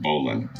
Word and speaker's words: bowline: though it is written beau line it is pronounced bolan it is a not used tala in the